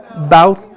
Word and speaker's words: bough: How do you pronounce that word? Bough.